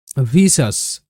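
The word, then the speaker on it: vicious: আই ও ইউএস সাস হবে সাস এরকম যেমন ভিসাস ভিসাস ভিসিয়াস কিন্তু নয় ভিসাস ভি আই ভি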